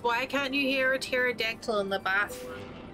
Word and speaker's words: pterodactyl: can't you hear a pterodactyl in the box because the p is silent yeah i like that